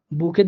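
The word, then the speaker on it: Buch: আমার সূত্রের ইউ পাইছি, এই জন্য আমি সিএইচটাকে এখানে খ এর মতো করে উচ্চারণ করব, বুক।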